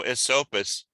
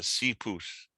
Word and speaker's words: Esopus: terms of yeah i'm sure there's lots of mispronunciations um but uh no esopus isn't exactly correct but it's uh sea pus you know suppose and it just became standard